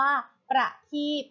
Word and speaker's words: ประทีป: นะ คะ ทำ ต่อ ไป ค่ะ คำ ว่า ประทีป ค่ะ ประเทศ อ่าน ว่า ประทีป ประทีป ประกอบ ด้วย